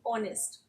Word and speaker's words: honest: Because honest, when we pronouncing honest, we are pronouncing it, we are having a vowel sound, honest.